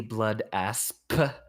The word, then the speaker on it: Blood Asp: my all-time favorites the blood asp pronounce the p make sure that no one ever miss hears you oh look at that